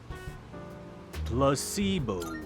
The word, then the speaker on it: placebo: today repeat after me placeo the stress is on the middle Sy Placebo very good you're feigning